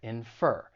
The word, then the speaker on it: infer: down in the comments the verb it has two syllables and once again the stress is on the second syllable infer and I don't think